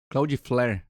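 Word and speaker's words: Cloudflare: mesmo mencionaram sobre o o cloud Fair Claud flir né pronuncia assim melhor então a gente vai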